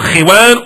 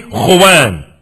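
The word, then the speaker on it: خوان: That mat that you put on the floor is called khiwan or khuwan. It's called khiwan or khuwan. More properly, khuwan.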